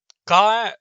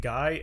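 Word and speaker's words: GAI: as a guy um it is g-a-i but everyone pronounces it g-y or spells it g-y-i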